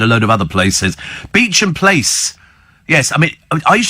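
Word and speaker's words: Beauchamp Place: you can find a load of other places Beach and place yes I mean I used to pronounce it Bon I think it was ban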